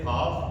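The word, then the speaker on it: half: है का इसी तरह से हाफ इसमें भी हमारा एल क्या रहेगा साइलेंट रहेगा इसी तरह से एफ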